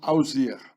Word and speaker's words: Osiris: The name of Osiris was pronounced Ausir.